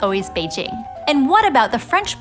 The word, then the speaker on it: Beijing: capital of China pronounced Beijing with a sound instead of with a J sound that is both written in English and pronounced in Mandarin. I used to say, but now it's always Beijing.